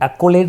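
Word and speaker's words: accolade: Actually हमने इसकी जो प्रोनाउंसिएशन उस पर ध्यान देना है, ये एक्लेड नहीं है, ये एक्लेड है, एक्लेड। सो एक्लेड, एक्लेड का जो मैंने ट्रिक बना दी वो क्या बना दी, अकेले ऐड।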